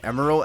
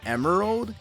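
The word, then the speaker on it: Emerl: emerald by the way I'm pronouncing his name emerald as a play on the word Emerald because I think it's cute and probably what the developers had in mind though according to a friend friend of mine the Jazzy man he tried to argue that his name isn't pronounced Emeral but apparently Emeral yeah I don't get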